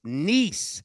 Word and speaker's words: Nice: one play on here and I believe it's nice is that how it's pronounced you got it it is one for